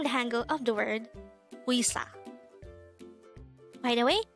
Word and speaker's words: 의사: angle of the word uisa by the way take note that the wii sound is actually formed with a combination of the e and e sound now let's have some